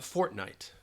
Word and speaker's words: fortnight: But it almost sounds like you're pronouncing those two words.